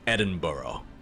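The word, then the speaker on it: Edinburgh: hear people say it I hear people say it as though it's burrow like edin burough is the main pronunciation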